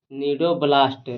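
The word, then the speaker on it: cnidoblast: है और Nido Nido नीडोब्लास्ट नीडोब्लास्ट नाम नीडोब्लास्ट नीडोब्लास्ट सेल्स होता है। नीडोब्लास्ट सेल्स होता है। सी साइलेंट है इसमें।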